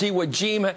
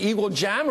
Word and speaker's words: Iwo Jima: It's Iwo Jima. We've always heard it. But if you've never pronounced it before and never said it before, you say something like Iwo Jama or something on here.